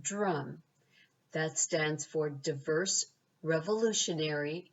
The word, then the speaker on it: DRUUMM: them is d-r-u-u-m-m and we pronounce it drum that stands for diverse